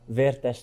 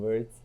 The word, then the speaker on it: Vertes: Okay, it's Vertes. Vertes? Vertes in Hungarian, but like in English, it's Vertes or Verts.